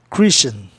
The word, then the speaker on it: Christian: Olha, Tian em inglês, Tian é Chan, Christian, Tion, Chan, Zion, Jean. São grupos especiais indicando uma sílaba só.